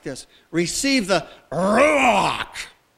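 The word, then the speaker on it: רוח: like this receive the rock not ruach but rock it's guttural it's powerful it sounds like some alien sounds like a klingon warrior of some kind using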